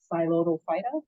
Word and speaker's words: Psilotophyta: The phylum Psilotophyta, anytime you see PS like that, P with a consonant in science, the P is usually silent. So it's Psilotophyta, that's how it's pronounced.